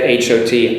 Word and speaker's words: hot: Don't forget H-O-T, hot, and H-A-T, hat.